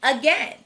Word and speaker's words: again: last word is again we have seen that two syllable words starting with a often have a schwa sound and that's what we hear in again the second syllable is tricky though the vowel team a i should say the long a sound but it doesn't so we know we would put again in the trap column fluency now we'll